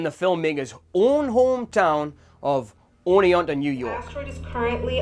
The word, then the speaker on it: Oneonta: It's not that hard to pronounce. It's Oneonta.